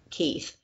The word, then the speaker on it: Kyf: is keith brewer and it's kyf but it's pronounced like keith and uh and so